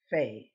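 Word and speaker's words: פ: a review pay now this one has two forms uh it has the same shape but without the little dot so this is pay with the dot the one without the dot is fae so we have pay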